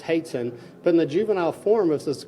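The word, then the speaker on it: hoatzin: remember it looks like Haute's him but it's pronounced hate sin but in the juvenile formosus grow and it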